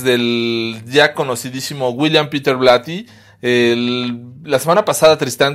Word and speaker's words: Blatty: Y si el la pronunciación correcta es William Peter Blaty, inclusive en inglés eh del UK es William Peter Blaty, o sea, es más pronunciado a una.